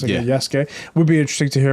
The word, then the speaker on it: Yasuke: it would be really interesting to hear about Yasuke. Is that how I pronounce it? Yeah. Yasuke.